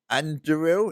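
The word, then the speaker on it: Andúril: Anduril is how you pronounce it.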